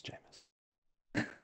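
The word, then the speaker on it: Jameis: he said it wrong he said it wrong it's famous jamus I mean for Sam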